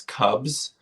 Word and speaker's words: CVBZ: So it's spelled CVBZ. It's Cubs.